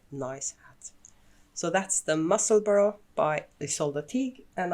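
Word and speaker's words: Musselburgh: myself a muscle burrow we have agreed on the pronunciation it's muscle burrow like in edinburgh and uh it's by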